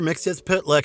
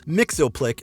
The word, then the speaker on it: Mxyzptlk: by Gilbert Mack while this version followed the official DC Comics pronunciation the second time we saw him in the Super Friends franchise his name was pronounced as Mixel Plick instead voiced by Frank